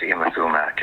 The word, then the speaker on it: Yma Sumac: Is it Yma Sumac? Am I pronouncing it properly? That's right, Yma Sumac, yeah.